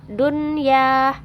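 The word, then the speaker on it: دُنْيَا: juga contohnya yang kedua dunia dunia jelas ya Ih enggak ada samar-samar enggak ada dengung dunia dunia seperti itu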